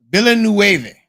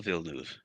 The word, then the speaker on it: Villeneuve: pronunciation is horrible. You can do it. Villanueva. Circuit Gilles Villeneuve.